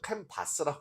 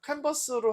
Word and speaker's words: 캔버스: 그리고 우리가 여기 보면 심층 리서치 말고 여기 눌러 보시면은 캔버스라는 거 제가 그 좀 발음을 잘못해 가지고 캔바스라고 정하는데 캔버스로 하시게 되면 여기서 파일을 만들어